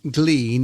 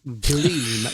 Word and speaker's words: gleam: these things are sent to try us, but I have learnt something, and that what is the word is not glean; it's gleam.